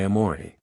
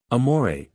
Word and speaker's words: amore: from that connoted by amore. Amore, you fairly sing the second syllable, in a baritone voice, from the chest, with a little throaty tremolo on the surface to make it sound more palpitating.